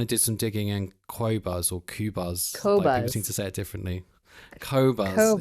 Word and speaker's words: Qobuz: Well, I asked the internet, I said, how do you pronounce it? And they said Qobuz. Okay. So it's Qobuz, but independently owned, you know, they don't have a bunch of shareholders with investments in military or war.